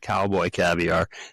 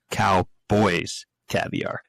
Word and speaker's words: Cowboys Caviar: We were calling it Cowboy Caviar and it's Cowboys Caviar. Yeah, there was an S in there.